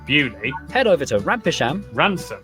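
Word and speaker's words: Beaulieu: Starting in Biaulio, Bewley, head over to Rampisham, Ransom, then down to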